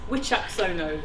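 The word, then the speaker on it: Wicaksono: Yes, so the pronunciation of my surname is Wickersono, and the way to remember that is this question and answer sequence. What do you say if you see a witch on an axe? The answer is, oh no. It's a witch, axe, oh no. So just imagine me with a witch's hat, and you've got the pronunciation.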